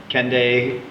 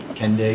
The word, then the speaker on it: Kendig: I went and visited the Kendai. I don't know if it's pronounced that way. Kendig. That's good. Kendai. Kendig. So, with a G.